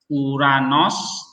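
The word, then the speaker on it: οὐρανός: Nih, smooth breathing itu berarti tidak diucapkan. Misalnya ya aquo, uranos, ya kan?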